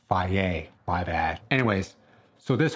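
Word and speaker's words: Fage: Back in the day, I used to call it Phage. They're like, no, it's pronounced Faye.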